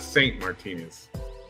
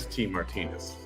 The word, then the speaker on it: ST Martinez: So it's not Saint Martinez. It's ST Martinez.